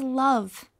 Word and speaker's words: love: This word is love. The E is silent, but it makes sure that the word doesn't end in a U or a V.